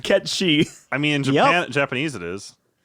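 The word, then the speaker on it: Cait Sith: not he's googling no i thought it was kate seth too yo what if i told you it was ketchy what yep yeah so i mean it's pronounced ketchy i mean japanese it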